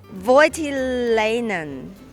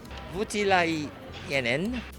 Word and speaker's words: Voutilainen: Voutilainen. Voutilainen. Okay, let's remain in complicated territory with Voutilainen, Mr.